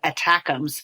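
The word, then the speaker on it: ATACMS: missile system when they have such a cooler phonetically spelled acronym which is attackums I absolutely love saying that so but we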